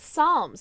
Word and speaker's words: Psalms: I want it it's Psalms that's no no way I've never I never knew that so the p is silent you're eating tajan seasoned